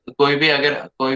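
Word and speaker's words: chi: Pronunciation शायद मेरा गलत हो सकता है, ची स्क्वायर टेस्ट बोल सकते हैं। ठीक है, बट काई स्क्वायर बोला जाता है।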